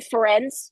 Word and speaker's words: Ferencz: no, no, there was Other like prosecutors, Bernard or um, Ben Ferenc. that's I, him. I I Yeah, may be yeah.